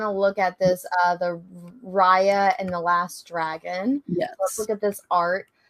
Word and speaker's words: Raya: look at this, the Raya and the Last Dragon. Yes. Let's look at this art. So this is Raya. I think it's Raya, not Rhea.